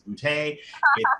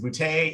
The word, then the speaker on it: Boutte: underscore booty b-o-u-t-t-e yes my name is bootay it is bootay if it's not funny you're not saying it right and uh we'll see